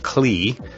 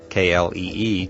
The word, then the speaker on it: Klee: engineering student like me, you may be pronouncing his name Klee, K-L-E-E, just as it's spelled. However, I have it on very good authority that Klee is a proper pronunciation.